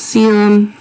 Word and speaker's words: coelom: known as a coelom spelled weird but it's pronounced serum and said this is a body cavity a